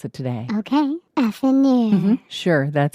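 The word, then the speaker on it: affineur: You pronounce it today. Okay. Affinure.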